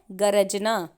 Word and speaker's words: गर्जना: अब आप देखेंगे क्योंकि यहाँ पर र स्वर रहित है इसीलिए गर्जना होगा और गरजना में र स्वर सहित है, वहाँ पर अ भी लगा हुआ है इसीलिए उसका उच्चारण होगा गरजना।